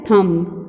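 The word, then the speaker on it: thumb: ये देखिए नेक्स्ट क्या है, थम, ठीक है, थम, बी लेटर लास्ट में आपका है ना, और इसकी प्रोनाउंस हम नहीं करेंगे, ये होगा थम।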